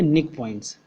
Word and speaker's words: knickpoints: Okay, nick points. K is silent.